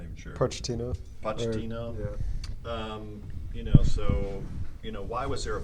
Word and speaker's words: Pochettino: Pochettino. Yeah. Why was there a falling out with him in the first place? And then how is Mourinho going to overcome, whatever Pochettino couldn't deliver?